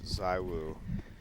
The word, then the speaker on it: ZywOo: what yeah that's that's that is supposed to be the correct correct pronunciation but he likes zywoo he's just okay with